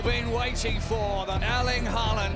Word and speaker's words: Haaland: Everybody's saying Haaland. I think it's wrong, right? Yeah, you know, in Norway, we say double A is O, so it's Haaland. Yeah. You know, out in the real world, it's Haaland.